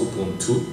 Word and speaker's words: Ubuntu: Mais la vraie définition, elle vient du Xhosa, une langue sud-africaine, et ça se prononce Ubuntu.